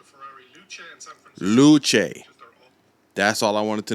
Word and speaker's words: Luce: Luce. That's all I wanted to know. That's all I need to know. Because I was saying Lucy, and I was like, it's not Lucy.